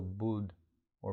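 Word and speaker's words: Buddho: the waterfall of thoughts you might add the Mantra buo as if you're singing the syllable bud or bu on the inhale and do on the exhale budo awake the awakened one the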